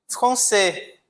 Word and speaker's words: Français: Français. Perceba que eu não pronunciei o S, né?